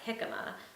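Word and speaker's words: jícama: And so on the H page where he's talking about healthy food, he has jicama, and although it's written with a J, you pronounce it with a h.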